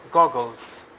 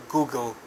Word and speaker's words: goggles: the first one is goggles. Don't pronounce it Google. Google is a software you use on your phone. So these are goggles, not Google. Googles, no, goggles.